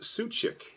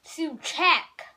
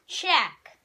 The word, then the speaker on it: Suchek: Is your last name pronounced Suchik? No. How is our last name pronounced? Suchek. Suchek, like you're suing for the check? Suchek. Although in Poland, it's Szywczyk. It's Szywczyk. Wow. Yes. But we say Suchek because it just is easier for us.